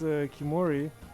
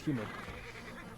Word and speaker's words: Khiimori: I know how to pronounce Kimori. I think I know at least people Mongolian native speakers in the chat correct me but I think it's Kimori. So yeah, we have